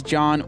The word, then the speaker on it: John: And my name is John with a silent H.